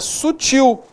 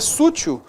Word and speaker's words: sutil: Então a palavra correta, a pronúncia dela é sutil, não é sútil, é sutil, né?